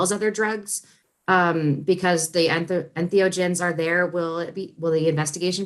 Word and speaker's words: entheogen: The first one is the proper pronunciation of this. Is it entheogen or enthogen? Entheogen. Entheogen.